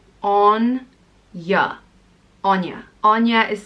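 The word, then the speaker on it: Áine: and it means splendor radiance and brilliance it's pronounced on yeah Anya Anya is spelled a I n E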